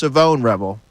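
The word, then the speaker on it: Shavon Revel: It's pronounced Savone Rebel.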